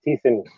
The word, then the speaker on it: Theissen: It's Theissen. It's a silent H.